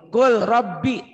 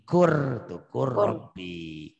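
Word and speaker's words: قل رب: Kul Rabbi tuh. Kul. Masukin ke ini. Kur Rabbi. Ininya jangan dibaca.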